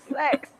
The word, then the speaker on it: CEX: In the UK, we've got a shop that's spelled CEX, and you can trade in all your old electrical equipment to them. And yeah, sex.